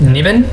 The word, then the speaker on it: Naivan: pronounce your full name my full name is naivan some people pronounce it niven and it's fine for me especially considering the fact